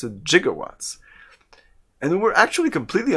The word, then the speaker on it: gigawatts: the greek root jigas that greek root is pronounced with a j sound not a g sound for gigantic oh so